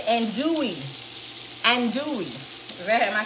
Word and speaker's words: andouille: The L's are silent. Let me see. I missed that. Andouille. So it's andouille. Andouille. Am I saying it right? Andouille. Andouille. Andouille. If the L is silent, it's andouille sausage.